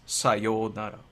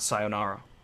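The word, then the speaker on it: さようなら: Because the correct way to say sayonara is sayonara. Yeah, it's different. It's the yo, there's a oo after the yo. Sayonara. Not sayonara.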